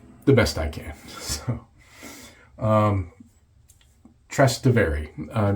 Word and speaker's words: Trastevere: You're supposed to stress the middle syllable, and yeah, Trastevere. I always want to roll my R on that last one, Trastevere, or something like that, but I'm nowhere close to being Italian.